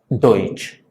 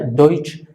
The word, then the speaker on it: Deutsch: Alemán, que por cierto, en el propio idioma alemán se escribe así y esto se pronuncia Deutsch. Repito, se pronuncia Deutsch, así es como se